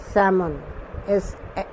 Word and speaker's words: salmon: প্রথমটা আমি বলছি, নেম অফ দ্য ফিশ, এটা স্যামন, SAL, এলটা সাইলেন্ট, MON।